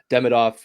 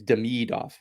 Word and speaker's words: Demidov: Most Russian names, if they're 3 syllables, the emphasis is on the middle syllable. Yeah. It's not Demidov, it's Demidov.